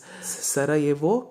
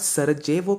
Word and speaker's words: Sarajevo: the third one is sara evo crisis jay is silent it's not sarah javo crisis it's sarajevo crisis if